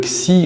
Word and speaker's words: Xi: Le Xi chinois se prononce Si, correspondant au TH hébreu que les juifs askénazes prononcent comme un S, vocalisant ainsi Japhet comme Yafesh.